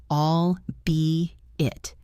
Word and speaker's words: albeit: For albeit, remember the 3 clean beats. All be it. And the stress is in the middle. All be it. Like a B in the middle of the word.